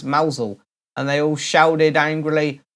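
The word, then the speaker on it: Mousehole: I asked the crowd is it mouse hole as its spout or as Mosel and they all shouted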